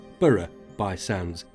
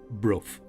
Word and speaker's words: Burgh-by-Sands: Now, being a Yorkshire lad, I would have pronounced it Burgh-by-Sands, but I've been reliably informed that it is pronounced Bruff.